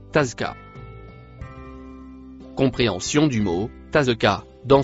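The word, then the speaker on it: تزكى: Le mot écrit en rouge se prononce tazka.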